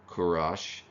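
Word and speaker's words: Kūruš: Persians in particular King Cyrus II the great of Persia or kurash as it would have been pronounced historically uh conquered Babylon in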